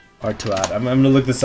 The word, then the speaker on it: Artaud: How to pronounce Artuad.